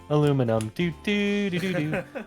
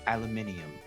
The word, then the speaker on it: aluminium: meanwhile an Edward's mind aluminum aluminum no no if he's if he's British you have to say it right aluminium no miles my boy